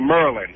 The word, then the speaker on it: Maryland: here they realize that people don't say maryland they say merlin yeah the merlin how